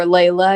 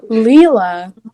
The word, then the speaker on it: Leela: y'all or you know leela or layla as you say it is wrong leela that spelled different leela